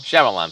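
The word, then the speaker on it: Shyamalan: out uh M night um how do you pronounce it shamalan shamalan thank you I keep shalam and dingdong that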